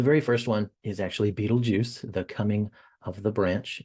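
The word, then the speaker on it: Betelgeuse: first one is actually Beetlejuice the coming of the branch we see in Malachi 3 and that's in the right shoulder yes it is pronounced Beetlejuice now it has no relation to the movie uh we have rigel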